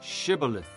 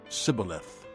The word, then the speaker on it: shibboleth: they said all right say shibboleth if he said sybileth because he could not pronounce the word correctly they seized him and